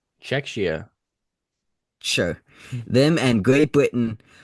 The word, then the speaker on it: Czechia: Uh so far Czechia, I don't even know how to pronounce that. I um and Great Britain are the first Czechoslovakia. No, it's Czech H. Czechia.